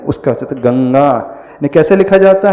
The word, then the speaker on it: गंगा: है तो फिर कौन सा हम न का उच्चारण नहीं करेंगे। गणगा नहीं पढ़ेंगे। गम नहीं पढ़ेंगे। क्या पढ़ेंगे? क ख ग घ उसका गंगा।